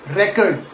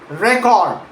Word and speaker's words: record: First, stress on the first syllable. Record. Like, I would like to check your record. Now, stress the second syllable. Record. Record. Record. Like, can you record this call for quality purposes?